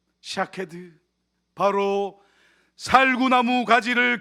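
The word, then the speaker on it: שָׁקֵד: 여기서 살구나무라는 단어는요, 히브리어 원어로 샤케드라고 발음합니다. 그런데 본래 히브리어에는 모음이 없지요. 그래서 자음으로 된 히브리 글자에 모음을 다양하게 붙일 수가 있는데, 그냥 자음으로 된 이 샤케드를 다르게는 다른 모음을 붙여서 쇼케드라고도 읽을 수 있습니다.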